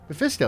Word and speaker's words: Mephisto: Wait, I'm saying his name wrong. How do you say Mephisto? Mephisto, you said it right.